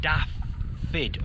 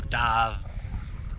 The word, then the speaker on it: Dav: And I struggle to pronounce his name, but I'm going to give it a go. Is it Daffid or Dav?